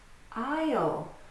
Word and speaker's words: aisle: Now for the silent S. Aisle.